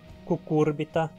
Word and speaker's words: Cucurbita: o do - lorico a vogal u é pronunciada como um urubu uma cor no no pos cucurbita homulos UPA é a